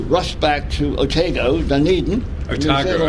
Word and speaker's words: Otago: Otago. Otago. Put the emphasis on the second syllable.